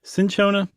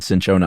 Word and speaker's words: cinchona: I think it's Cona. Cinchona. Yeah, I looked it up. We I think we said Cchona a lot in the genonic episode and we were wrong.